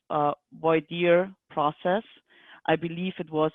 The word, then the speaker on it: voir dire: done in that fashion voir dire which is taken from the french and we all mispronounce including me as a rule is